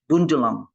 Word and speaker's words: Bundjalung: So even though you got Bundjalung, we say Bundjalung there, Shamila, it's Bundjalung. Bundjalung. So it's a O. The U is an O, Bundjalung.